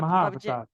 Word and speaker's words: Mahavatar: Mahavatar.